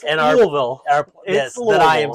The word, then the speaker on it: Louisville: So this company actually in Louisville, and I'm being told by our editor, it's Louisville.